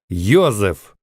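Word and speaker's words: Josef: имени иосиф проще говоря имя иосиф немцы произносят как юзеф а если это правильно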